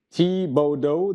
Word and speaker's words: Thibaudeau: Puis bien sûr, parce que son nom est en français, ça disait, c'est prononcé Thibodeau, donc T-E-E-B-O-D-O et non Vin Diesel.